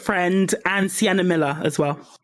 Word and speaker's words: Friend: michelle dockery and rupert was it rupert fringe is that you pronounce his last name yeah rupert friend and sienna miller as